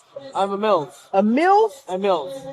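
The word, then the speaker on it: Emils: I'm a Mills. A Mills? A Mills. Spell it for me.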